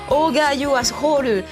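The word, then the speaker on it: OGRE YOU ASSHOLE: le nom en fait ça s'écrit ogre you as crawl mais en japonais c'est au Gayo ascroc il y aura également le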